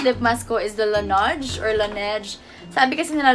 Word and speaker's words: Laneige: Yung favorite lip mask ko is the Laneige or Laneige. Sabi kasi nila Laneige yung pronunciation, so I'm gonna stick with Laneige Lip Sleeping Mask.